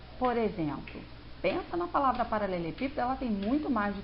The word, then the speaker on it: paralelepípedo: exemplo, pensa na palavra paralelepípedo, ela tem muito mais de 3 sílabas, obviamente. Mas, pípedo são as 3 últimas. Se a gente for perceber, o pi é a sílaba mais forte. ela é proparoxítona.